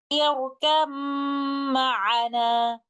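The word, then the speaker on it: ارْكَب مَّعَنَا: In Surah Hud, ayah number 42, again here we will apply the rule of idgham mutajanisan, and upon continuing the recitation from the first word to the second word, we will recite it like this. يَرْكَمْ مَعَنَا. Letter ba will merge completely into meme, and there will be no sound of letter ba.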